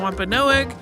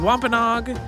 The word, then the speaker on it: Wampanoag: Listeners may notice that this episode uses the pronunciation Wampanoag, but in more recent episodes, we've said Wampanoag. Both of those pronunciations are in use by people who refer to themselves by one or the other.